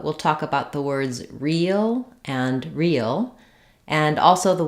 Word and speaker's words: reel: like um a movie real and the word real as in true have the same pronunciation and they both demonstrate